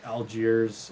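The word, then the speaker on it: Allgeier: Where, like, obviously we saw, I don't know how to say his name, like Algiers, is that right?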